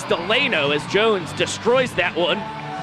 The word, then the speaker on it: Delano: a professional Party Animal, everyone knew him as Garrett Delano. Then we just found out about a week ago that the correct pronunciation of his name is Delano, as Jones destroys that one.